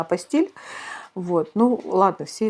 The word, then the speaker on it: апостиль: Дипломы продолжают приниматься, если официально все сделать, как я уже рассказывала в предыдущем ролике, если получить, правильно говорить не апостиль, мне все время хочется сказать апостиль, а вообще-то правильно апостиль.